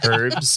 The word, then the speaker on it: herbs: It's pronounced herbs because there's a fucking H in it.